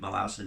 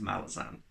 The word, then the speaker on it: Malazan: series malassen i understand i haven't had enough conversations about malazan to actually ingrain pronouncing it malazin into my head i always just revert to malazan hate me as much